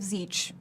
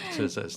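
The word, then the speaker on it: Tzeentch: My favorite mispronunciation of Zeech is Tzesnatek. I have heard it mispronounced Tzesnatek.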